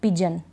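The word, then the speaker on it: pigeon: क्या पढ़ रहे हैं सर्जन अब यहां पर पिजन जी ई ओ एन ए जन पढ़ रहे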